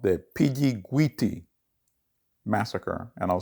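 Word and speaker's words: Pidjiguiti: location of the incident and it's called the piggy guiti massacre and i'll spell that for you p i d j i g u i t i and that massacre occurs in 1959.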